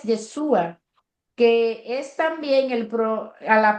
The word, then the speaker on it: Yeshua: La pronunciación hebrea de Josué es Yeshua, que es también a la pronunciación hebrea del nombre de Jesús.